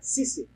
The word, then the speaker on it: CC: Disse eu, mas em inglês pronuncia Cici.